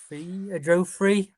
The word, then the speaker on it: Joffrey: Yeah, but like I say, go on, you tell me how you pronounce his name. Joffrey.